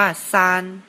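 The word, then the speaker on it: 三: 3 เลข 3 ใน ภาษา จีน อ่าน ว่า ซาน ก็ จะ เขียน คล้าย ๆ กับ เลข 2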